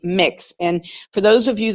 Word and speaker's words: Mx: do you pronounce mx i believe it's just mix just like you would kind of think instead of saying mx a b mix and for those of